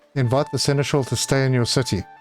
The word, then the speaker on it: seneschal: Now, inviting the seneschal, that I need to do by mandate, and I have actually checked that is the correct pronunciation for it. So this is the one. Invite the seneschal to stay in your city.